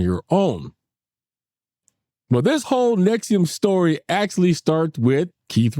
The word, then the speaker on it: NXIVM: to get into it Nexium is spelled NX i v M just in case